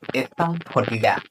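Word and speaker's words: asafoetida: एस फर्टिडा। क्या कहा जाता है? एफ फर्टिडा। Spelling A एस ए एफ ओ ई टी आई डी ए एस पिडा।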